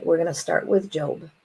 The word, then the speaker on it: Job: of Solomon and we're going to start with job it's pronounced job not job and this is an ancient story